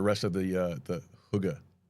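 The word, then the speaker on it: Hygge: So, uh, so what can readers expect from the rest of the, uh, the Huga series? Did I say it right? Yeah, you did. Huga.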